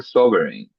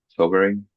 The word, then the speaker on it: sovereign: Well, it will make you more sobering if that's how you pronounce that. Sovereign sovereign like aver sovereign sovereign it